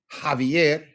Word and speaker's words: Javier: J's are always pronounced as English H's. Por ejemplo, Jose, Javier, Jamón, Julio.